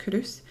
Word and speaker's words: Culross: It's spelled Culross, but pronounced Hurus.